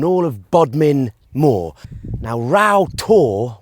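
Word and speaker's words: Rough Tor: Now Ra to which means rough to which is also how it's spelled has a bit of folklore attached to it.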